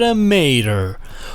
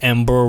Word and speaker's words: EM-8ER: name change why because some people pronounce it a Mater who are these people I don't know but if they do exist you just tell them it's Amber once and you're good and